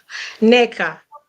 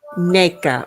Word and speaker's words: Nneka: and Wendy okay and please pronounce her name correctly who Nea yes Nea Nea okay and then another quick